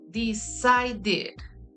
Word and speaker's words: decided: Decide, the last sound, not the last letter. The last letter is E, but the last sound in present is decide. In past tense, we have the E, and then we pronounce the D, right? And then we pronounce id, decided.